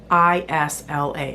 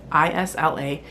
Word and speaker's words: Isla: another character in the book whose name is I S L A, a woman. I S L A. And I was also pronouncing her name Isla.